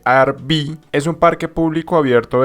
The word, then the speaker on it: Arví: Bueno, entonces les cuento, el Parque Arví, lo he estado pronunciando mal, pero se dice Arví, es un parque público abierto de 1.761 hectáreas de bosque, pertenecientes a la reserva del río Nare.